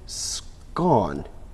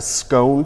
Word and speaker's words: scone: Now, you said scone, or... Well... that's a scone to me, is it? Well, in America, they say scone, and it's perfectly correct because it's spelled scone by golly.